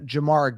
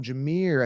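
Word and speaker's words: Jahmyr: yeah Jamar Jamar Gibbs his name is pronounced differently but I call him Jamar um Jamir they call him Jamir I think it's Jamir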